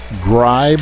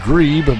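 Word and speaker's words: Grieb: It could be Grebe, but I was always taught that when two vowels go walking, the first one does the talking. So we'll say her name is Aaron Gribe.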